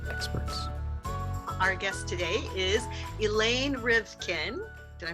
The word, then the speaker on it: Elaine Rivkin: from entertainment industry experts Our Guest today is Elaine rivkin did I pronounce that right you did hello okay Elaine